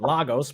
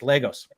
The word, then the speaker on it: Lagos: on the proper pronunciation I was calling it Lagos because I'm from the West Coast United States and I don't know anything and she told me no it's Legos all right all right